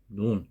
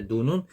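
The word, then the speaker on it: ن: 근데 눈은 이 점선 밑으로 내려가고 깊고, 그리고 위에 점이 찍힌다. 이런 모양이다. 눈은 음가가 이렇게 N이에요. N이고, 눈 경우에는 우리나라 뭐 니은 발음하고 같죠.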